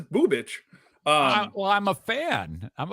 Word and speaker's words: Bubich: And yes, Eric, his last name is pronounced Bubich. That really that's what perked my ears. Yeah, I knew it did, and I wanted you to understand that you didn't mishear me. It is Bubich.